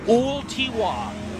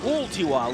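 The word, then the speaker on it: Ooltewah: say and butchered mercilessly it's o tiwa thank you V driver o tiwa like P tiwa all right I appreciate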